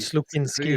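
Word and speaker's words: Slukynsky: Mais dans les buts, entre autres, on voit Trey Augustine, Hilbrand et j'ai de la misère à prononcer. Slukinski. Slukinski.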